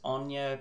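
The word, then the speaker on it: Aine: looking through the creatures Ana I'm going to pronounce um that Wizard's name as Ona that's how we'd pronounce it here in Ireland where I live although there's some symbols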